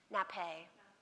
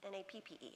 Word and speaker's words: nappe: N-A-P-P-E. Any French majors in here? N-A-P-P-E? I can't remember if it's 2 P's or 1, but it's nappe. A little accent on the end, yeah.